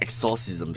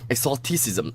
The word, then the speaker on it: Exoticisim: Not exorcism, because I thought it was exorcism. Exoticism.